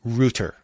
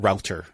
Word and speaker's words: router: irish guy yeah and he would say rooter not router so what's the proper